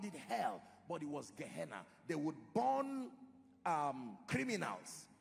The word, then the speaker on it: Gehenna: most important for our discussion one is called gehenna gehenna is spelled g e h e w n a